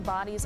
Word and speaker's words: Bodie: The original name, Bonny's Island, is today pronounced Bonny.